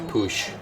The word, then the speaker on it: Puig: Krrish Boosh is weird in America we would just pronounce that we because of yasiel Puig baseball player especially but in Catalonia apparently it's Browns Poosh Poosh Poosh Oh defender slips we